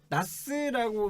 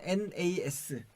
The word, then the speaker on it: NAS: 나스라고 많이 얘기는 하는데 원래는 NAS. 그러니까 이게 각각의 어떤 단어들이 조합된 거기 때문에 NAS라고 하는 게 NAS라고? 맞고요. 네.